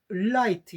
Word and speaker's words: light: 그 라이트가 있는데 또 막상 한국인들이 그 초성으로 L 발음을 할 때 그 필요한 만큼 깊게 그 혀를 붙이지 않아 가지고 R 발음을 하는 경우가 많거든요. 특히 이제 습관적으로 우리 한국인들은 초성으로 나오는 리을은 되게 R로 해버려요.